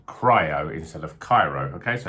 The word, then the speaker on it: Cryo: think i've been saying cairo but it's actually cryo as in cryogenic not cairo so i i apologize